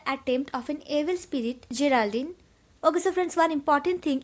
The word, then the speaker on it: Geraldine: of an evil spirit Geraldine over France one important thing you can pronounce Geraldine as your elder but do not ever pronounced like Geraldine okay so the evil